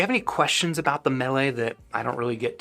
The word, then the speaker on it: Mele: the Mele, which, yes, I think Mele is probably a more accurate pronunciation than Mele. This is, the word is M-E-L-E. It's a Hawaiian word. I believe it, I don't know, you hear the word in like Mele Kalikimaka.